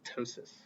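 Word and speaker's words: ptosis: eye muscles themselves unilateral Tois with a p in front of a t wait so the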